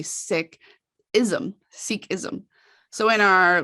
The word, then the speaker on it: Sikh: it's something else so you may have heard a lot about seeks the pronunciation is really sick however even in academic circles it's really hard to find that pronounced correctly because the british decided it was sikh and it is just